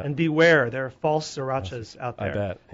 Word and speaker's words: sriracha: The sriracha sauce, which Can we just talk about sriracha sauce, please?